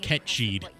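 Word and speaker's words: Cait: think right so yeah I hate that they're calling him cat Sith or cat or Kate Sith when it's an that is an actual word it is a Gaelic word and supposed to be pronounced Ked oh really for a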